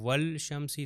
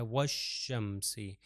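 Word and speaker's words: والشمس: तौर पर व शमसी अगर कहू वल शमसी तो ये गलत है व शमसी और दूसरा तरीका इसको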